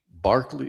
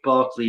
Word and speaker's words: Berkeley: But yeah, I was going to say you guys must have heard of George Barkley and uh I think you pronounce it Barkley because he was Irish.